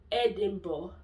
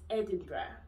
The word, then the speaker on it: Edinburgh: It's not Edinburgh, it's Edinburgh. Yeah. So I think I think it was even referenced in one Nigerian movie. I'm going to try and put it in this video. This place, Edinburgh.